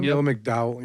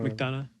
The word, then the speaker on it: McDonough: Neil McDowell. Yeah. McDonough. McDonough. Yeah. Yeah, I couldn't fucking remember how to pronounce it, but I Yeah.